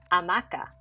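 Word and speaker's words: hamaca: a spanish speaker is amaca in english is hammock what's the difference the h at the beginning in the spanish the h is silent we never hear it in english you hear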